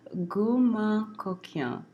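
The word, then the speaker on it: Gourmand Coquin: It's pronounced, this is my best now, Gourmand Couquin.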